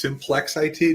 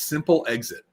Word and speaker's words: Simplex-IT: It is Simplex-IT, not Simple IT, which the hilarious thing is, I actually have a video on this at our learning center, is all of the mispronunciations. So we've had Simplex-IT. My favorite, though, is Simple Exit. That was my favorite mispronunciation of the company.